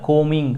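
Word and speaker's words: combing: ಇಲ್ಲಿ ಸಿ ಅಂತ ಇರುತ್ತೆ ಇಲ್ಲಿ ಬಿ ಅನ್ನುವಂತಹ ಉಚ್ಚಾರ ಆಗಲ್ಲ ಕೋಮಿಂಗ್ ಅಂತ ಹೇಳಬೇಕು ನಾವು ಕೋಮ್ ಕೋಮ್ ಅಂತ ಉಚ್ಚಾರಣೆ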